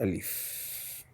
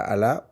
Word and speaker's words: Al: C'est pas Allah ou Ila, c'est Al. Al, qui veut dire le en arabe. Le. Le maître, la maison, la voiture, le. En arabe, on dit Al.